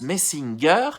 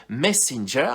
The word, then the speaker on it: Messenger: Et d'ailleurs, Maggie, dans un premier temps, le prononce Messinger et il insiste en disant que le G se prononce je, Messenger, et c'est pas pour